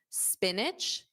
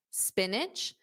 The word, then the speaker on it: spinach: Spinach, spinach. Notice that it's an itch at the end.